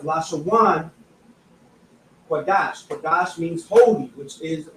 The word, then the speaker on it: Lashawan Qadash: it in the English, it would be La, Sha, Wan, Qua, Dash.